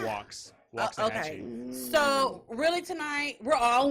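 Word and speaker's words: Waxahachie: you say this it's walks walks a Hatchy hat yep I know the wax throws you off but it's walks walks hat so really tonight we're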